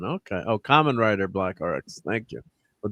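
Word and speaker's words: Kamen Rider: And let's uh Oh, was adopted from Cameron Rider Black RX pronounced like Common. Okay. Oh, Common Rider Black RX.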